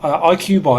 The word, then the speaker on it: IQ Bar: IQ Bar, is that how you say it?